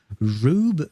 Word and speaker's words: Rube: Uh Ruth um uh oh it's rub Goldberg machines. Okay, that's how you say it. Rube Goldberg machines.